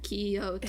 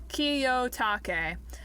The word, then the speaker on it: Kiyotake: Kiyotaki. Hiroji Kiyotake and Yoshio Sakamoto. Is it a K? Is it K-E or K-I? K-I. Ki. It's pronounced the same no matter where in the name it is.